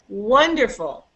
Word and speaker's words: wonderful: I say the word wonderful wonderful wonderful that's right so you hear that the first there are three syllables wonderful and you can hear that the first one is higher longer and louder wonderful wonderful wonderful that's